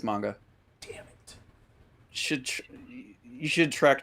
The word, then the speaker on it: manga: Is that how you pronounce it? I thought it was manga. It's manga.